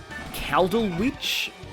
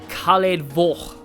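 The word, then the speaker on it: Caledfwlch: It looks like Caldal Witch, but, according to, according to most sources, it's pronounced Khaled Voch. Like, something like that, like Khaled Voch.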